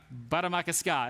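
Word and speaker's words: Bde Maka Ska: I can't pronounce it correctly. Andrew, help me out. Baramakaska.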